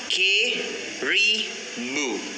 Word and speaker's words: caribou: ஓகேயா, இப்போ நாங்கள் பாருங்கள், இந்த CARIBOU இதை நாங்கள் எப்படி ப்ரொனவுன்ஸ் பண்ணணும்னு சொன்னால் கெரிபு.